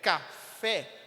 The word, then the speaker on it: café: Então, na palavra café, qual é a sílaba mais forte? Fé, não é? Café. A palavra que sai muito mais forte e sai em evidência é a palavra fé. A palavra não é a sílaba fé.